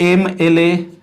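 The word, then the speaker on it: MLA: तो एमएलए, ए फ्रेंड्स, इसका जो उच्चारण है वो वोवेल से हो रहा है, तो इसके पहले क्या लगाएंगे फ्रेंड्स, तो एन का प्रयोग करेंगे, ये देखिए सही उच्चारण हुआ।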